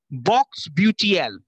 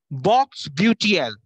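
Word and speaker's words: Bocksbeutel: It's known as Box Beautiel. Box Beautiel.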